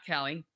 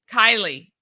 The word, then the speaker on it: Kaili: Not Kelly. Kaili. I know it's because her name is spelled that way, but it is Kaili van Waveren.